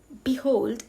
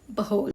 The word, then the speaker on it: behold: Instead of saying behold, say behold.